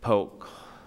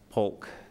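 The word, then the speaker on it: Polk: pelis uh Citrus Hernando poke pulk I better say it right in case some the pulk members hear me um or I should say as they say Imperial pulk County and there we go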